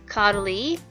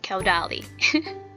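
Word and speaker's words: Caudalie: This is actually pronounced Caudally, and I keep saying Caudally.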